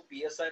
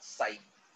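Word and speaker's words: ψ: अभी जी हो गया, अभी इसको पी एस आई मत बोलना, इसको साई बोलते हैं, पी साइलेंट हो जाता है, साई साई ठीक है.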